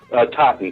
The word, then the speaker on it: Totten: Totten Trilogy.